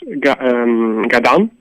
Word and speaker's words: Gadan: It would be normally pronounced Gadan, and that means silly.